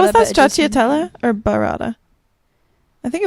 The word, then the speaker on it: Stracciatella: Stracciatella.